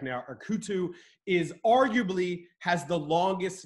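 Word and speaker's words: Erketu: This one's a toughie, and if you need me to spell it, let me know. Erkutu, or Erkutu.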